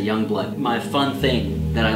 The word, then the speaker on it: Jongbloed: this one was found in Youngblood it's not pronounced joing blonde or John blow it it's Youngblood I'm like 95% sure than the Aryan guys say Youngblood my fun thing that I learned that 2018